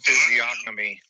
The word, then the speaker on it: physiognomy: It's pronounced physiognomy. You cannot rethink. Physiognomy. Physiognomy. Hold on. Let me see if he He's says pronouncing it a G.